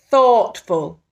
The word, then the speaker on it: thoughtful: Thoughtful. Bit of a tricky one. We've got 2 syllables in there. Ready? Thoughtful.